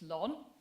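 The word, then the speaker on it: LHON: hereditary optic neuropathy are much more easily pronounced as lon it's a mitochondrial disease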